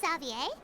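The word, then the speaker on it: Xavier: oh hey isn't that zavier so he's back in Fon oh that's how you say his name zavier okay I thought zavier same zavier zavier is because it's more like you know English yeah English oh why if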